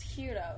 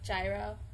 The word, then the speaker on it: gyro: How do you pronounce the... How do you actually... It's hero, right? Yeah. Not gyro?